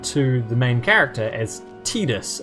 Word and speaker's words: Tidus: the main character as tidus as in t-e-e-d-u-s oh pre-emptive strike looking at the japanese spelling of his name that that is pretty much unquestionably how you would pronounce it in japanese well i mean